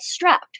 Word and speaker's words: Strappd: Another really exciting project is I'm going to meet tomorrow with the developer of the app called Strapped, which is spelled STRAPPD.